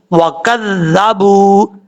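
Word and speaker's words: وكذبوا: ہجے کر لیتے ہیں۔ واو زبر وا، کاف لال زبر کز، لال زبر ذا، کذا، با واو پیش بو، وکذبو۔ یہاں پر واو مدہ ہے، ایک الف کی مقدار لمبا کر کے پڑھا جائے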